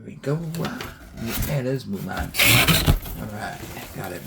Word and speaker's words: Moolan: Hopefully I didn't butcher the name. Here we go. Yeah, it is Moolan.